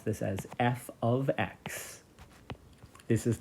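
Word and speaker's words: f(x): function and then the function rule is we pronounce this as F ofx this is not multiplication so f of x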